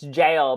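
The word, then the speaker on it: gaol: It's jail, but it's spelled G-A-O-L. It's G-A-O-L.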